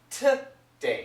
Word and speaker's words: today: actually well actually today so she doesn't say today she says T day it's a t sound okay and I also